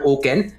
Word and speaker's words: OCEN: network it's it's called oken uh o c e n but pronounced as o k e n um and for that